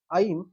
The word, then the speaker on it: ऐं: कर पाते, तो ओम, ऐं, ह्रीं, क्लीं, चामुंडाय विच्चे। पुनः सुनिए, ओम, ऐं, ह्रीं, क्लीं, चामुंडाय विच्चे। एंग नहीं, ऐं है।